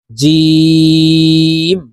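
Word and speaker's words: ج: এর মাঝের রূপ জিম জিম উচ্চারণ জিহ্বার মধ্যখান থেকে হবে কারণ জিমের মাখরাজ জিহ্বার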